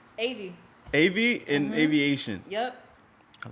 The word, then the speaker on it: AVEEATION: in your business uh pronounce it for me aviation like a plane yeah like you out